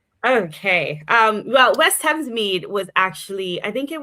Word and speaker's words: Thamesmead: Am I pronouncing that right? Thamesmead? Yes. Thamesmead, which is one of London's most diverse communities.